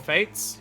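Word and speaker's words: fete: that, they're often called fates here. But it's f a and we pronounce it fate.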